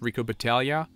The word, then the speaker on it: Rico Battaglia: go and eat up Rico Battaglia by the way I'm assuming that this name is Italian and in Italian you don't pronounce the G in front of an L so it's Rico Battaglia well there is no